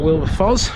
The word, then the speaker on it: Wilberfoss: anyway that's been the parish of wilberfoss or will the fuzz whichever way you'd like to pronounce it and i'm going to